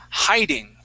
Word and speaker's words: hiding: Now, this word you were pronouncing instead of with a long I sound, high, okay, you were saying yeah. Hey. It was more like a heh. Hiding. Okay, more of it like a hey into that.